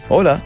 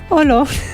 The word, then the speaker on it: Hola: Hola. Okay. Yeah. For to begin with. Yeah, what did I say? Holo.